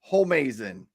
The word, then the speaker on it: Homeazin: It's pronounced Homeazin.